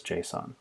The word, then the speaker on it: JSON: else called JSON and that might be pronounced Jason in some contexts I've come to know it as JSON it stands for JavaScript